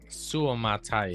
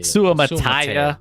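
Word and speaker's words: Suamataia: Suumataya. Sumataya.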